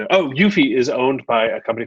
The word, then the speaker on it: Eufy: I guess, I don't know how it's pronounced. It's EUPY. It's Eufy.